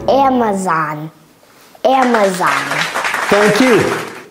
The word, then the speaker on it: Amazon: Amazon. Amazon. Amazon. Thank you. Et vous voyez, son A, ça fait un. Amazon. Et ça, c'est zone. Zone, c'est pas zone. Amazon.